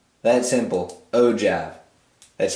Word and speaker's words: ogive: lot of people say this right here as oh give i'm a culprit of doing this i've done